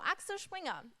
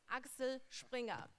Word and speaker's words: Axel Springer: largest digital media so access Wingham let me tell you how it's pronounced correctly it's Axel Springer the German way it's some so the